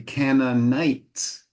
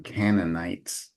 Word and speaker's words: Canaanites: names uh I I one suggested uh pronunciation Improvement would be Canon night all right so that ey is nice and open canites very good let me